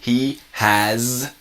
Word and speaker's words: has: interesting with the pronunciation when we use he or she with the verbs you have as in a possession or a noun the S sounds like a z so it's really he has time if you imagine